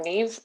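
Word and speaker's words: Niamh: thank you thanks uh despite the complicated uh way my name is spelt i'm neve and i'm the irish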